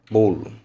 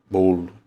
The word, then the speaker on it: bolo: Esse acento aqui o acento quer dizer que deve ser pronunciado com de forma fechada. A gente fala do O fechado. Bolo, bolo, bolo, que é o acentinho circunflexo.